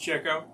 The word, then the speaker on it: Chico: Pronounced Chico.